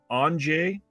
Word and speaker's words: Andrzej: The guy's name is actually pronounced Andrzej Showowski.